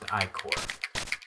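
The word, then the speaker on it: Ichor: Yeah, it's pronounced Icor.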